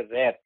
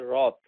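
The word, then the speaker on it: wrath: আমাদের অনেক পাঠক বলে রে উচ্চারণ একটু শিখতে হবে আপনাদের সবাইকে ডাব্লিউ আর এটি এইচ এটার উচ্চারণ হচ্ছে রথ নট রে শুধু এ থাকলেই সব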